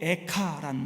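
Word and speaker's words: איכה: 슬픔의 노래, 애가라는 단어가요 히브리어로 에카란 말입니다. 우리 애가라는 발음하고 히브리어 발음이 아주 비슷하죠.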